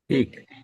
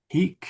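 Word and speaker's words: hīc: Quintus, pater non Hic. hic. Quintus Yes. pater non est. Not here. Yes. And please put a long I in there. Hic, not hic.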